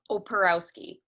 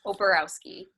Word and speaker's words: Oporowski: Just how it's spelled. Oporowski. Oporowski. Yes, Oporowski. All right. Just like it's spelled.